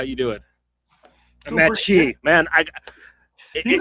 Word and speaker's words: Mattchee: Doing pretty Mattchee, man. You can call me Matt. Okay, well, I mean, I know you like you kind of told us to like pronounce it all as one word.